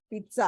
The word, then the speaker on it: pizza: जो आप पिज्जा खाते हो, पिज्जा PIZZA, उसकी प्रोनाउंसिएशन पिज्जा नहीं है, पिज्जा है.